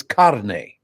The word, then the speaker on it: carne: And the other woman, Spanish woman, goes, "Carne. It's carne." You made a commercial about the pronunciation of the word carne.